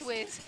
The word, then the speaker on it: Schweers: Chelsea Schweers. Schweers, yep.